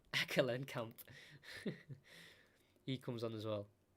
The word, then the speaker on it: Ekelenkamp: give me a second, Ekelenkamp, that's how you say it, Ekelenkamp.